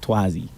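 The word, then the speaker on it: Twahzy: I call myself Tuazi. Yeah. How do you spell that?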